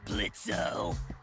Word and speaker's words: Blitzo: Uh-huh, sure, Blitzo. The O is silent now, bitch.